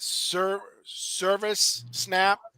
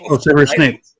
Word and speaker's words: Severus Snape: is chime in InArt, and that's what's that Service Snap from Harry Potter that just came out. What was that? Severus Snape.